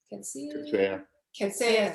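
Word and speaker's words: Coetzee: I'm going to say his name wrong. Ketsey. Ketsey, thank you.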